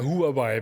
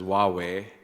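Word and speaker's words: Huawei: Sanji WWE or as in Dutch to say who areai but that's completely wrong right well I guess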